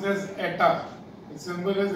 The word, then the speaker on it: eta: So that is pronounced as eta. The symbol is eta, that is an alphabet of the Greek letters.